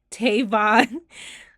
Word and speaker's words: Tavon: Tavon. Tavon, like Kavon.